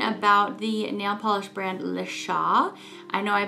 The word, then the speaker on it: LeChat: we are talking about the nail polish brand Lea I know I butchered it in my last video about this